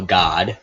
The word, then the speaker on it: Gad: Reuben, Simeon, Levi, Judah, Dan, Naphtali, Gad, well, God, depending on how you want to pronounce that, Asher, Issachar, Zebulun, Joseph, and Benjamin.